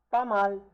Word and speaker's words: pas mal: Pas mal, pas mal, not bad, pas mal. Again, the S here is not pronounced, right?